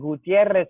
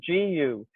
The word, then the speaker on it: Gutierrez: And Gutierrez is Gutierrez. Sorry, I speak Spanish.